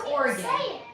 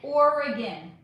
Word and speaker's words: Oregon: You say it like Oregon, like an organ in the body, which is adorable, but it's Oregon. Oregon.